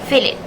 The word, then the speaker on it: fillet: The difference found is in the second syllable let. The speaker pronounced the letter E as the schwa sound, but according to RP, it should be the short vowel sounds E.